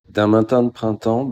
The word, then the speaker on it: D'un matin de printemps: and the composer because I'll never get the pronunciation right. So here's how he said it. D'un matin de printemps by Lily Boulanger.